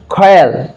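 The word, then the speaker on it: quarrel: কিউ ইউ আর double আর double আর ইএল, খয়াল, খয়াল, খয়াল, মানে উচ্চারণটা খয়ের মতো হবে, খয়াল।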